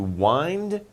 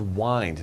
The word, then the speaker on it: wind: And to wind, they're kind of similar. This is wind, not wind. Okay? Spelled the same, but different pronunciation.